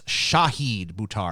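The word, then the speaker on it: Shahid Buttar: said his name right it's pronounced it's spelled phonetically so you would pronounce the show okay so it's shahid Butare i'm sorry i'm really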